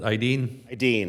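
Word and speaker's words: Aidin: we provide a service pronounce that idene it's spelled Aiden a-i-d-i-n okay um we do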